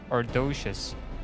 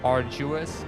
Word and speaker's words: arduous: the return journey less ardocious. Pray do not forget to use it. Arduous. Arduous. I think it is not ardocious.